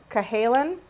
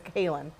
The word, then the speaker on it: Cahalan: I wrote this out phonetically, so Cahalan is how you pronounce it. It's spelled Callahan, but it's Cahalan.